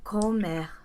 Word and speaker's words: comer: So luckily, the word for to eat rhymes with beber. Comer. I won't call this a rhyme. I would just say that they end in the same way and that this ER represents two.